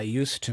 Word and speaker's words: used to: Notice the pronunciation here because um we pronounce used to with an S sound as well. It's not a Z sound like used.